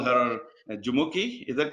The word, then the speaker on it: Jumoke: Nigeria juki I have I thought I will pronounce a full name huki this is okay and uh we call her juki is that correct that's correct absolutely exactly so